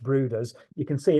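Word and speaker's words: Bryde's: the books uh but it's Norwegian and it's pronounced bruders you can see it's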